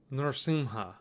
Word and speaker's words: Narsimha: We're going to write the name Narsimha. Narsimha. So you're going to break this by syllable, as always. So if you listen carefully, you'll see that there are three syllables. Nr, Sim, and Ha.